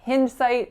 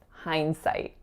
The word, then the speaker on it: hindsight: always make much sense so for this one think of the word behind right you're looking retrospectively so it's not hinge site it's hindsight so our next word